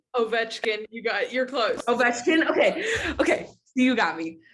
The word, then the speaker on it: Ovechkin: I already know it, but I think it's pronounced Ovechkin. You're close. Ovechkin. Okay. You got me. Ovechkin.